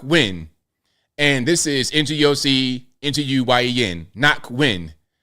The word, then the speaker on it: Ngoc: Ngoc. So they have it spelled NAHK, knock, and Nguyen. You can say Nguyen, but I normally say win. Ngoc Nguyen.